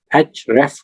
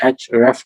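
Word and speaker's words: Ahrefs: जो एचआरएफएस वाला टूल है इसको नॉर्मली जो प्रोनाउंस किया जाता है, जो मैंने इनके सीईओ का ट्वीट देखा था उसमें उन्होंने कहा था कि ये बेसिकली एचरेफ टूल है, जिसको कुछ लोग आरएफ भी कहते हैं, कुछ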